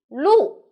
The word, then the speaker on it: 路: i'm sunny the word of the day is lu in this video i will teach you how to pronounce it how to write it and how